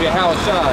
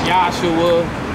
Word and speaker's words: Yahushua: But in Hebrew, his name is Yahushua. That's how you say his name in Hebrew. Okay. A lot of people will say, they call him Yahshua, Yeshu.